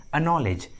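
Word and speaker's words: acknowledge: है तो सी का उच्चारण नहीं करते, सी साइलेंट होता है। For example अनॉलेज, अनॉलेज।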